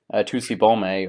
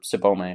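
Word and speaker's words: Tsubomi: in the form of Tusibome, or Sibome, actually, I always forget that the Japanese T is silent.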